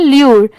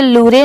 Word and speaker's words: lure: trap TRAP trap, TO2 ये है ल्यूर LURE इसे लूरे नहीं पढ़ेंगे, ल्यूर, WILD वाइल्ड, ये है